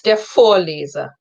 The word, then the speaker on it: Der Vorleser: It's der Vorleser. So again, the emphasis is on the first syllable.